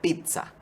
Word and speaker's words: pizza: no adaptado al español lo ideal es pronunciarlo con una t y una zeta como en italiano o sea pizza y su escritura es